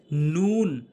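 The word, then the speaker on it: ن: এরপর হচ্ছে নুন, নুন, নুন, অর্থাৎ জিব্বার আগাটি উপরের তালুর সঙ্গে লাগাবেন, জিব্বার আগাটি উপরের তালুর সঙ্গে লাগাবেন, নুন, মুখ গোল করে, নুন, নুন।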